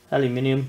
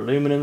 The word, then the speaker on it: aluminium: you got mild steel aluminium or aluminum as you Americans say and then it's stainless